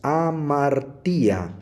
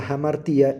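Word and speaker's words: ἁμαρτία: transcribe como H aquí si nosotros no respetamos la presencia de este espíritu fuerte nosotros solamente diríamos a martía sin embargo como está presente el espíritu fuerte y dice que se transcribe con o se pronuncia como una H inglesa entonces pronunciaríamos a martía se pronuncia jamartía y se transcribe con h a martía estos son los dos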